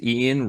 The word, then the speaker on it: Eoin: But this cat's name is Ian Reardon, but his name is spelled Eoin.